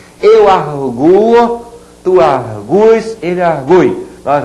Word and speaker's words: arguo: Então aqui o U é tônico, sim. Eu arguo. A pronúncia é essa.